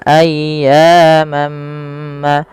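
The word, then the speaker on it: أياما: Kemudian pada lafal ayyamam, ayya di sini panjangkan suara ya-nya sepanjang 2 harakat karena ia mad tabi'i dan tekan ya-nya dulu.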